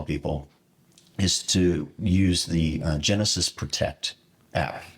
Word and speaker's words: Genasys: So the second thing I tell people is to use the Genesis Protect app. So Genesis, it's spelled GENASYS as opposed to SIS, but it's Genesis Protect.